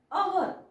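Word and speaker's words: hour: next बघा एच एच आता एच केव्हा सायलेंट असतो इथे बघा एच वाचायचा नाही एच म्हणजे ह परंतु ह चा उच्चार इथे होत नाही या शब्दाला आपण वाचतो अ वर अहर ह नाही वाचत आपण मग एच जर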